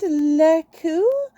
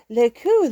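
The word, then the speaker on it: Lekeux: belgian soldier named lieutenant lekku who adopted him and if i'm pronouncing his name wrong it's l-e-k-e-u-x laku loved his kitty and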